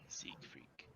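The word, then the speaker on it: Cygfrek: catch your name your auto and z freak seek freak can you spell that for me daniel c y g f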